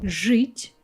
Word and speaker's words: жить: After the letters zh, sh, c, we pronounce our I, ye, yo harder. So we replace them with their hard pair I, e, o. Like this we will have жить, желтый, жест. You see, жи, I'm not saying I, soft I, I'm saying I.